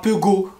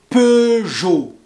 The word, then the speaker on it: Peugeot: de voitures comme renault peugeot citroën alors je répète re nos re noé pas renown renault peugeot et pas peu go peugeot peugeot et citroën citroën je répète